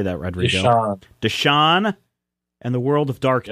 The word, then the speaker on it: Deschain: Deschain.